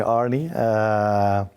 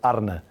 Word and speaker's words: Arne: Brendan Rodgers, he a few times called me Arne. I listened to that name, but we in Holland would call me Arne, which is not an easy one to pronounce.